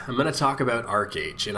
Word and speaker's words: ArcheAge: Today, I'm going to talk about ArcheAge, and I refuse to call it ArcheAge even if that's the correct way it's pronounced.